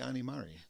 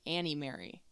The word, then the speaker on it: Ani Mari: Politely, just next time somebody says your name wrong, it's actually Ani Mari. People say it wrong so much. I think I'm used to it. At least you didn't say Annie Mary.